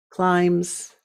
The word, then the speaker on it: climb: words like dances sings climbs right now be careful that b is silent in the word climb and I did a